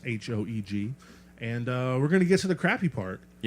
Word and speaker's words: Hoeg: We're listening to the album Happy Crappy by Reese Hoeg, long O, pronounced Hoeg.